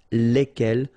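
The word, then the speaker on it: lesquelles: good news is that phonetically it's lesquels here for the masculine form and then lesquels for the feminine form, all right, so phonetically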